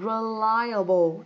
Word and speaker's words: reliable: À, ok, reliable. Các bạn nhìn thấy không? Ở đây cô có phiên âm là âm thứ hai này. Reliable. Reliable.